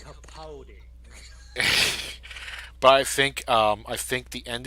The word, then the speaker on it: Capaldi: it's pronounced Capaldi.